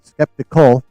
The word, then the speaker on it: skeptical: Like, I'm very skeptical. By the way, someone please tell Josh it's a 3-syllable word.